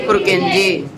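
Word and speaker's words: Purkinje: जे पुरकिंजे। मेरे को पहले बोल के देखना था प्रोनाउंस कैसे करते हैं, उसका सुनना ध्यान से।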